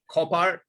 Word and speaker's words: Copart: All right, so we are looking at, how do you pronounce that? Copart or Copart? Copart.